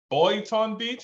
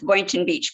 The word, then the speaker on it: Boynton Beach: beach Bates is that Boyton Beach is that how you pronounce that are you on mute yes that's Boynton Beach Florida Wellington Beachwood all